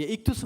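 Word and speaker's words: ἰχθύς: 뭐 대충 몇 개는 읽을 수 있겠죠 예 익투스 맞습니다 예 스라고 읽으면 됩니다 익스는 말이기 라는 뜻인데요 그럼 왜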